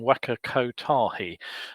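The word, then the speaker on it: Waka Kotahi: takahi um has actually i just pronounced that wrong waka ko tahi has made the necessary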